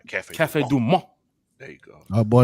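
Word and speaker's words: Café du Monde: Cafe Du Monde.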